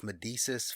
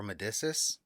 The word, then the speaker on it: Medicis: shaknae he was the ceo of medesis pharmaceutical or medicis i heard it pronounced two different ways okay he got them